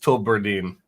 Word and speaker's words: Tullibardine: It's pronounced Tullibardine. Can you let's just say Tullibardine?